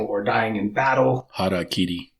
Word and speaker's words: harakiri: whether that be through Harikari, or dying in battle. Harakiri. Is that what it is? Well, that's the correct pronunciation in Japanese.